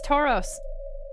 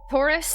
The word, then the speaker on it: Taurus: You're pronouncing it like it's the name of the Pokemon. That's how I I know the Pokemon. So to me it's Tauros. Taurus. Tauros. Taurus. Taurus.